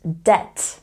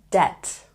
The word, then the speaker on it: debt: not thumb thumb and Deb not debit there's a similar word which is spelled differently and they have two very different meanings so this is really important to remember debt doubt and next we have